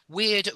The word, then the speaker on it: weird: weird sorry something weird weird rhymes with beard yeah this might sounds strange but those two words rhyme weird beard yeah uh you say